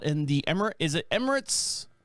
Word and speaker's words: Emirates: record label out in the emerald is it Emirates how do you pronounce that place that's out there United Emirates yeah the UAE the United Arab Emirates yeah